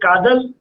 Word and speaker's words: Kadal: that right yes yes can i pronounce the word right is it kadal it's cuddle so i have heard